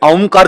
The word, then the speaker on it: ओम: तो उच्चारण क्या है? अ प्लस उ प्लस म। ओम। जब आ से मां की यात्रा तय करते हैं तब हल्का सा ऊ का उच्चारण होता है, लघु उ, छोटा उ, ये उच्चारण है ओम।